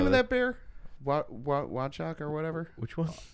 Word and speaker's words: Wojtek: Wachak or whatever? Which one? Wojtek. Wojtek. Wojtek. Wojtek. Yeah, Yeah, Wojtek. yeah. Watch it. Yeah. Okay. It's spelled with a W. It's a RV. It's weird.